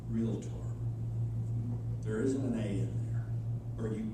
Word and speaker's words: Realtor: she said dick um the word is pronounced real tor a in there where